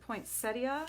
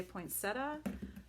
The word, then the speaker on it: poinsettia: Some people pronounce it poinsettia, some people say poinsettia.